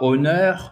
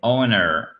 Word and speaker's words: honor: Alors, c'est pas honneur, c'est pas un honneur, c'est honor. Honor, Et en plus, vous avez le à la fin, honor.